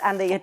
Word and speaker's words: Andayé: I was about And your name to is Andayé. I was have a about weird to name. fucking Well, say. No. Here's It rhymes with Annabay.